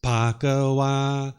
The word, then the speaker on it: Bhagava: Sounds like an M when you're chanting. Yeah, I think I've softened it up a bit since I started using the mic, which I just started using this about a year ago. So it's Bhagava. That's the way it should sound.